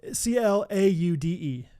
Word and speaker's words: Claude: C L A U D E. Like claude like a Frenchman.